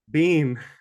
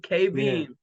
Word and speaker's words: Kbehm: I'm from Mr how you pronounce it Beam Beam K beam so K beam you want to introduce us